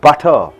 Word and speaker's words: butter: How do you pronounce the word butter? You pronounce it as butter. Butter. Because in front of T, U and D vowels are there. So T is changed into D.